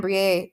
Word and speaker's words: Briet: Publisher's Weekly article that said it rhymes with plie, I believe.